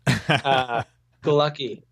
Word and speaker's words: Galucki: last name oh right the lucky is polish and it's weird it's spelled gee al uck I happen it's like happy-go-lucky except instead of a nose that helps you remember gee al uck